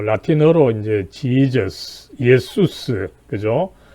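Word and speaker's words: Ἰησοῦς: 그래서 원 발음은 사실은 이 그리스 헬라어로서 예수스, 그죠? 이 원래 발음입니다, 그죠? 그래서 독일어나 우리말에서는 예수, 과거에는 뭐 예수스까지 했습니다만 좀 라틴어식으로 좀 줄여서 예수, 그죠? 그런데 이 영어에서는 어쨌든 이것을 지저스라고 발음하는데, 이거는 사실은 조금 올바른 발음법은 아니다라고 하는 것을 먼저 염두에 두고요.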